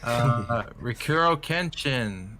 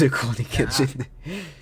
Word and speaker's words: Rurouni Kenshin: Rikuro Kenshin. Apparently, it's a remake of an old anime that I You never butchered that.